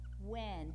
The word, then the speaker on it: when: So, really, those words you see, we just pronounce them like that, without the H, like you have in Spanish with the silent H, okay?